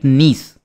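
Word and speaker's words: gneiss: तो वही यहां पे आपको आर्कियन एज के पत्थर देखने को मिल जाएंगे जिनको हम कहते हैं खोंड लाइट नीस। ठीक है? अब इसमें जी साइलेंट रहता है।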